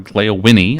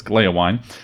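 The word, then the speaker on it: Gléowine: Well, Glaewine or Glaewinnie as I've heard some people pronounce it, which is too weird for me, so apologies to Professor Tolkien, but it's Glaewine.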